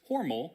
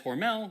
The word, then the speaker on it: Hormel: of the company, and he said that it was Hormel, as in rhymes with normal. But since the company today says Hormel, that's what I'm going to be saying for the rest of the video.